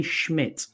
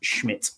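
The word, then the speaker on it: Szmyt: had your one who you wanted me to pronounce it's Andre Schmidt is how it's pronounced it's pronounced like yeah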